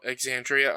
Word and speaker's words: Exandria: Oh, Exandria Unlimited.